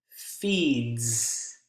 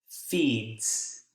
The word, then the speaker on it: feeds: If you look at those descriptions there, she feeds your cats. Feeds. Kind of a mixture between S, S. feeds, or you may even hear feeds. Z, Z. More of a Z pronunciation.